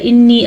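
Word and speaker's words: إني: انی گھننے کے ساتھ ساتھ مد کا بھی دھیان رکھنا ہے.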